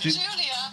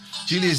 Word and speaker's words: Julia: Not Julia. Julia's a nice one. 3 syllables. Julia.